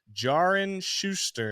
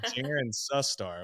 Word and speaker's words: Taryn Sustar: go to bat and they'd be like jarin Schuster and I'm like my name is Taryn sustar what are we doing